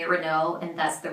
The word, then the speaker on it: Renault: Renault. Renault. L and T are silent. Renault. You will hear some Americans say Renault, but the majority of people say Renault and that's the right way.